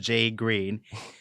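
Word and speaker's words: JGRXXN: crash with them yeah and a guy named jay green spelled j g r x x n pronounced j green he says that he heard the first four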